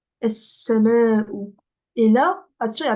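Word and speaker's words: السماء: Et s'il y a une shedda après, on ne le prononce pas. Du coup, là, je vais dire en-nejmu, es-sama'u.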